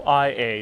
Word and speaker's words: Oía: or the town it's called ia is o i a is pronounced ia like i let's see if we